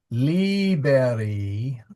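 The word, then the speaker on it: līberī: of the section Yeah, see liber are children with a long eye and then liber which is a short eye.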